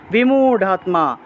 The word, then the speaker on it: বিমূঢ়াত্মা: ইন্দ্রিয়ার্থান বিমূঢ়াত্মা, ঢ, বিমূঢ়াৎ, রা আছে না, এটা ঢ হবে, বিমূঢ়াত্মা, র থাকলে ঢ উচ্চারণ হয়, বিমূঢ়া। এই যে এখানে দেখুন বিমূঢ়া আছে না, র আছে, মনে রাখবেন সংস্কৃতে এই রটাকে সংস্কৃতে ঢ হিসেবে উচ্চারণ করা হয়, ঢ, অর্থাৎ যে জায়গাতে